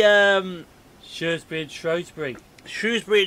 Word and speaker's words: Shrewsbury: shirts bridge show spring shrewsbury and shrewsbury yeah that that is the or shrewsbury you got shrewsbury you got shrewsbury suresbury as um got rougely